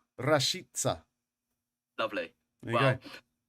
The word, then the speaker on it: Rashica: I looked up the pronunciation, and you're meant to roll the R. Okay. And for the C at the end, you say S. So it goes like this: Milot Rashica.